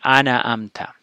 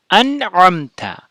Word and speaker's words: أنعمت: among the Muslims that most people say ana amta. So it's not fatha, it's not kasra, nun is a sukun here. So it should be an'amta.